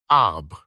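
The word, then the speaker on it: arbre: in the same way he was taught to pronounce ape singe and tree AB he was a most eager student and in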